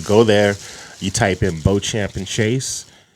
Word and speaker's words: Beauchamp: So you go there, you type in Beauchamp and Chase. It's going to be, this will get you, I'll just spell it out. It's BEAUCHAMP, like champ, and then Chase, CHASE.